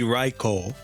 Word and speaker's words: Raichu: Japanese it would be raicho because OU in Japanese you know phonetics and when you're writing romaji in Japan the U is just extending in the o sound so it's the same